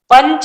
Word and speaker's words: पंच: पंच, प के ऊपर बिंदु है, पंच।